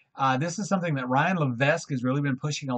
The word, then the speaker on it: Levesque: is something that Ryan Levesque has really been pushing a lot in the last couple of years. Or Ryan Levesque, I just found out yesterday he didn't pronounce his S, and I've known that.